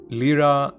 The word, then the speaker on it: Lyra: Lyra, Lyra is a Greek word, so I'm going to keep the original pronunciation.